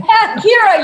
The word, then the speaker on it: Kyra: Kyra, I know I pronounced your name wrong. Kyra, you're doing it right.